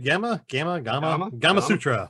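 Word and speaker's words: Gamasutra: Gamma Sutra, is that right? Gamma Sutra. Rhymes with Kama Sutra.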